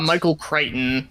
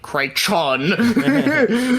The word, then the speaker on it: Michael Crichton: would what's his book Michael Crichton yeah like it's a c-r-i and then CH but you don't pronounce it like kreichon yeah yeah no he